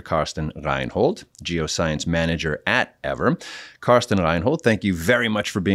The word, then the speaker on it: Eavor: The group making this happen is Eavor, a next-generation geothermal energy company. Eavor, and that is spelled E-A-V-O-R, but pronounced Eavor, has introduced the Everloop, which represents the world's first truly scalable geothermal energy solution.